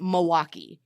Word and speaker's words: Milwaukee: of how I pronounced Milwaukee I pronounced the L in Milwaukee because there's a freaking l in in the word right and he's like nope lifelong wisconsinites pronounce it Milwaukee so I am very